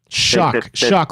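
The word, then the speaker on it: Shough: Shuck, like oysters.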